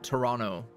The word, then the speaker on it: Toronto: to Canada uh visit Toronto OH Toronto sorry don't pronounce the second T um cuz there's a